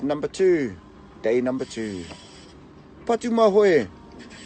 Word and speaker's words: Patumahoe: two day number two but do my way not parama holy